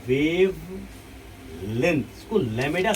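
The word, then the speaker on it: lambda: इसको लैमेडा से इंडिकेट करते हैं। क्या करते हैं बच्चों? लैमेडा। क्या बोलते हैं बच्चों इसको? लैमेडा। बी साइलेंट, बी साइलेंट हो जाता है।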